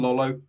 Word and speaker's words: Lolo: With Mike McKee, Don Lolo, have I said it right? Yeah, Lolo. Yep.